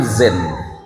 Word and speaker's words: Zein: Nama saya itu kan Zen, tapi kalau ejaan Melayu kan jadi jen. Saya agak dengar tadi itu. Kepada yang terhormat almukaram K. H. Jin Muksid.